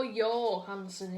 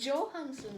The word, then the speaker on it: Johansson: it's Joe Joon I I wonder why people go yanson it's it's Johansson once you were born